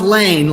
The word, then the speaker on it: Laehn: Yeah, it's pronounced Laehn, like L-A-N-E. Okay, I got that. Laehn. Dr. That's easy. Laehn from the great state of Iowa.